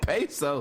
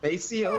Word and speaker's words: Paseo: He said pesos. Paseo, did we fake James Brown? Paseo Parker? Paseo, but okay. God damn, he fucked up. Ladies and gentlemen, the street name is pronounced Paseo.